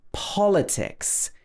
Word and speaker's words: politics: Like politics is stressed at the beginning.